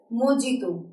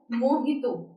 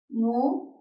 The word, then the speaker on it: mojito: हुआ है, मोस्ट ऑफ us speak like this, मोजितो. इट इज the incorrect और wrong pronunciation of this word. गलत है pronunciation. जो सही प्रोनाउंसिएशन इस वर्ड की वो है मोहितो.